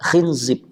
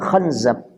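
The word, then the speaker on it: خنزب: Yang disebut dengan sebagian ulama ngebacanya dengan bikasril kha wa zai. Kha dan zainya dibaca kasrah, khinzib. Ada sebagian mengatakan khanzab bi fathil kha wa zai. Ala kulli hal mau dibaca khinzib atau khanzab ya.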